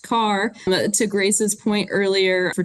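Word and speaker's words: Kerr: Carolina John H Carr pronounced like you drive a car but the lake project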